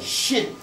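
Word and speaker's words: shn: It's a shin. S-H-N. Or if you can put a little E in there if you can't pronounce it.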